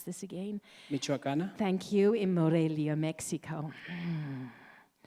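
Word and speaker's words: Michoacán: the universidad oh i just asked how to pronounce this again michoacan thank you in morelia mexico and it's no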